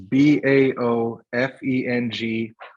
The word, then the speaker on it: Baofeng: The ones we bought are called, I don't know how it's pronounced. It's BAOFENG, and that's the name of the brand.